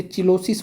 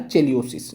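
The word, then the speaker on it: cheilosis: Vitamin B टू की कमी से होने वाला जो रोग है उसे चिलोसिस बोलते हैं। क्या बोलते हैं? चिलोसिस या चिलियोसिस। जैसे आप इसको प्रोनाउंस कीजिए तो हिंदी में चिलोसिस। इंग्लिश में चिलियोसिस।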